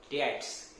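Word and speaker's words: debts: That is called bad डेट्स। B silent रहता, ध्यान रखना, बी इसमें क्या रहेगा, साइलेंट।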